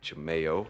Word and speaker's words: Jaimeo: mean you can find my name is spelled J a I M e o ji m yo and it's pronounced Chimayo mm-hmm Jame o okay so that could